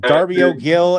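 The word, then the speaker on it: Darby O'Gill: It's called uh I'm not sure if it's pronounced Darby Gill or Dario Jill. Oh, Dario Gill and the Little People.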